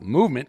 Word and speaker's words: MVMT: MVMT, pronounced movement, grew into one of the fastest growing watch brands, shipping to over 160 companies across the globe.